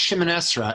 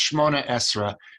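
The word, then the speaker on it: שמונה עשרה: It's pronounced Shimon Esra, and you'll hear it also the way Molly Pecan sings it. She'll say Shimon Esra. It's, of course, in Hebrew, it's Shmona Esra.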